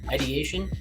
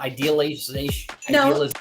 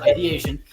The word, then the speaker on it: ideation: learned that suicidal idea i have struggled with this word ideation right yeah id is that right yeah it's not idealization said it right the first validation yeah all right suicide ideation yeah there's an ancestral